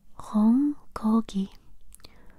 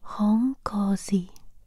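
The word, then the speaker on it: Không có gì: Hong Kogi. I also found on Google Translate it said Hong Kosi means you're welcome. Maybe it's like the different areas of Vietnam, different pronunciation.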